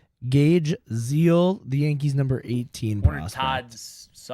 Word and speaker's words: Gage: Gaze. Gage.